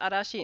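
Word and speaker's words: 嵐: go zhu and then this last one is arashi it means a storm i wouldn't expect you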